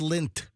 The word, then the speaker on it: Lindt: Dude, it's just lint. That's It's disgusting. It's like belly button lint.